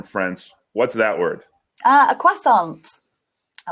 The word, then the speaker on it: croissant: A croissant. I like croissants. See, we would pronounce that more as a sophisticated French person, and we would say croissant. So the stress is on the second syllable, croissant.